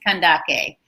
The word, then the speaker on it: kandake: which is us just trying to pronounce a marowitic word that's just written k-d-k-e and so we have to just kind of figure out that it's kondake um the greeks translated